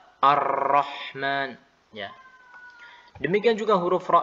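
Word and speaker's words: الرحمن: muncullah suara Arrahman bukan Arrohman Arrahman ya demikian juga huruf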